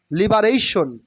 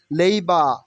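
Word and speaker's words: labour: religion religion মানে ধর্ম নট লেবার লেবার will be not correct only লেইবা লেইবা লেইবা মানে শ্রমিক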